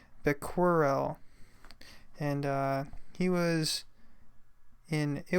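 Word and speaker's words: Becquerel: had Henry here and I believe his last name is pronounced the quarrel and he was in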